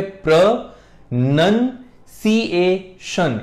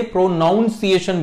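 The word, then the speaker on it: pronunciation: कहा जाता है और इसकी सही प्रोनंसिएशन होती है प्र नन सीएन यानी प्रोनंसिएशन इसमें नन आता है नाउन नहीं लोग इसे प्रोनाउंस एशन बोलते हैं व्हिच इज रंग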